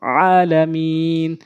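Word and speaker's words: العالمين: সূরা ফাতিহার ওখানে আলহামদু বলি, আলহামদু বড় হাইন উচ্চারণ করতে হবে, তেমনিভাবে আলামিন, ওখানে হামজা আইনে উচ্চারণ করি, অশুদ্ধ উচ্চারণ হয়, আমরা আইনের উচ্চারণ করব আলামিন।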